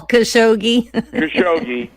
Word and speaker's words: Khashoggi: the the the Jamel chicagee how do you pronounce his name Jamal khashoggi look what that crown prince and the crown